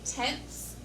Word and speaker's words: tenths: Next, we have the tenths place. Now notice that TH. It is not, this tenths place is not the same as this tens place. This is the tenths.